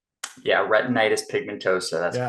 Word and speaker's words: retinitis pigmentosa: And from what I may pronounce it wrong, but from what I was reading, it's retinitis pigmentosa. Yeah, retinitis pigmentosa.